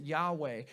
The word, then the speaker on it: Yahweh: And the Hebrew, we pronounce it Yahweh. We don't actually know how to say it because the Jews were so protective of that. They never said it out loud.